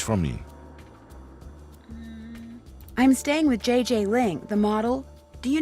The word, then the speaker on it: JJ: No, I mean JJ. Gigi. JJ. En français, you pronounce G like J and J like G. She may very well be JJ in America, but in France, she is Gigi.